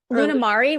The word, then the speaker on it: Lunamari: like Luna do you do you pronounce it as Luna Marie lunam Mari my middle name is Marie so I so lunam Mari yeah oh my God